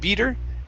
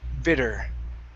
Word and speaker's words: bitter: chill in the air give me a short i sound instead of beater bitter all right so uh